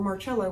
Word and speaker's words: Marcello: yet was that carlos marcello or marcelo with the italian pronunciation a soldier under corolla